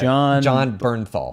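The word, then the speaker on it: Jon Bernthal: I don't know how to pronounce his name. It's John Bernthal.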